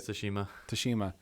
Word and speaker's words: Tsushima: Tsushima.